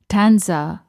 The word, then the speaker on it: Tansa: Tanza, that's spelled Tansa, was just 90 kilometers, about an hour and a half outside Mumbai.